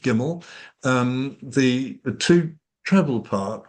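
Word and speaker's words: gymel: because um the the the so it's a gimmel. Okay. So that like our record company that's how it's pronounced gimmel.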